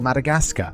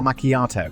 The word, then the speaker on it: macchiato: I was working at Starbucks and a customer ordered a caramel Madagascar, so I laughed thinking it was a joke and repeated it back correctly as a caramel macchiato.